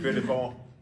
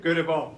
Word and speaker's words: Göteborg: Did I pronounce it? Göteborg. No. Göteborg, yeah? Gothenburg, Sweden. No. Göteborg.